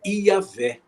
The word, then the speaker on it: Iavé: O J, ele é pronunciado como I. Então, quando você tem o J na língua latina, você pronuncia como I. Por isso é que vem a corruptela do nome Iavé.